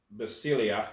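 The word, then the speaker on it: basileia: is 932 and it's b-a-s-i-l-e-i-a um basilia is how they pronounce that and it actually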